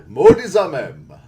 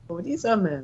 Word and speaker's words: Modizamem: Modizamem. Modizamem. Okay. I think I wrote down a lot more syllables than that.